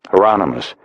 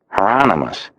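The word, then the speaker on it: Hieronymus: Heronomous rhymes with anonymous. Heronomous.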